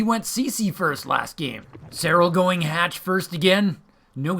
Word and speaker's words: Serral: Serral's gonna get his gas and his pool. Our Zerg player is absolutely a killer, but don't call him a serial killer, because it's pronounced Serral!